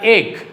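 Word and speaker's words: एक: This is the Hindi number or symbol of number 1. It is pronounced as ek, means 1.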